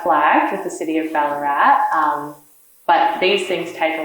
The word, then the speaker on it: Ballarat: And Ballarat as well, I don't know if you guys know this, but the reason that we have the double A in Ballarat is because the original Wadawurrung pronunciation is Ballarat.